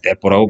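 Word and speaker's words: 鉄砲: 그걸 보고 뭐라고 하냐, 떼뽀라고 불러요, 떼뽀. 한자로 쓰면 철포인데, 일본 발음으로 하면 떼뽀 그러거든요.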